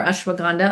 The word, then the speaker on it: ashwagandha: So, ashwagandha is incredible, or ashwagandha, other people pronounce it as well.